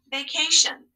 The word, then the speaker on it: vacation: read it all together vacation what is the tion saying in this word right it makes a shun sound right always always always